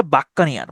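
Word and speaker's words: buccaneer: বাক্কানার, বাক্কানিয়ার, এটা উচ্চারণ হচ্ছে বাক্কানিয়ার।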